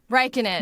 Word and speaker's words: Räikkönen: Räikkönen. You go. Räikkönen.